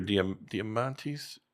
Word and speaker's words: Diamandis: The Moonshot podcast, Peter Diamandis, Mm-hmm.